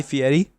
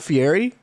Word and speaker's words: Fieri: doesn't cook anymore guy fieri oh really does not cook anymore that's how you pronounce that because yeah it's not fiery no that is dude